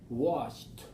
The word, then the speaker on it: washed: Washed. Washed. All right. So we have sh sound at the end. Wash. And then ED sound would be t.